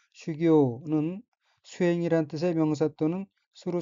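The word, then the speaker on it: 修行: 다음 어휘는 한자가 한국어로 수행이며 각기 닦을수, 단일 행자이고 일본어로는 슈교라고 읽으며 슈교는 수행이란 뜻의 명사 또는 수루 자동사 및 타동사입니다.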